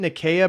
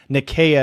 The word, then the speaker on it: Nicaea: And Nathaniel throws in 5, says, isn't Nicaea pronounced with a soft C, or are you using the Greek pronunciation? I'm using the pronunciation that refers to that particular empire. It's referred to as Nicaea instead of Nicaea.